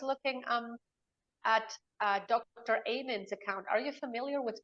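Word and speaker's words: Amen: what I was looking um at uh Dr ayman's account are you familiar with Dr Ayman no it's it's spelled a m e n he is um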